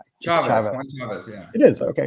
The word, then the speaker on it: Chaves: Chavez or CH I always say your name wrong chave Chavez yeah it is okay right I mess up